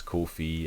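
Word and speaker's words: Ko-fi: apparently they themselves said it's cool fee as and it rhymes with no fee oh okay so it's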